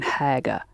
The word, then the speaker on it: حاجة: And it's the ha that's breathing on the glasses in haga.